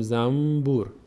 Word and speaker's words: زنبور: تلفظ میشه مثل فارسیش در فارسی ما داشتیم مثل زنبور زنبور که ما زنبوره زنبوره اما زنبور نمی‌خوریم چون تلفظش سخت میشه میگیم زمبور نون رو تبدیل می‌کنیم به میم و زمور اون ب